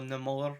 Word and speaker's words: Namor: We did see Namor in the promos, so or Namor as he's pronounced in the MCU.